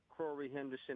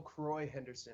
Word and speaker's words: Daniel Croix Henderson: my name real quick it's daniel kroy henderson not corey henderson so daniel crorey henderson